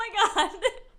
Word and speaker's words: macaron: cookie would take the I said it wrong macaroon macaron cookie would take the